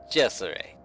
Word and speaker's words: Cesare: Cesare there, and that's I know I'm not quite pronouncing it right, but it is Cesare. It's an Italian ship, and I know the correct pronunciation only because we have several people who are of Italian descent in our clan. So if you ever see